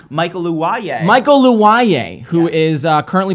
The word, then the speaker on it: Luwoye: Remind me how to pronounce this last name. Michael Luwaye.